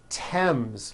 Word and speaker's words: Thames: spelled with a th, they are pronounced as if they were spelled with a normal t, t t like that. And these words are Thomas, Thompson, Teresa, Thailand, Thames, like the river, Esther, and thyme, which is a spice.